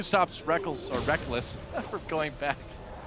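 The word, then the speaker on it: Rekkles: m tournament IPL 5 the reckles and Reckless debate was in full swing I still want to call him reckles but I'm just gotten so used to calling him Reckless because he says so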